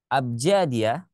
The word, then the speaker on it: abjadiyah: Abjadiyah dan juga ada hijaiyah. Nah, ini ya. Ada abjadiyah. Ini abjadiyah bacanya ya.